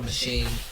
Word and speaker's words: Maschine: software and this big, it's called a machine. It's that's what it's called. It's spelled MASCHINE.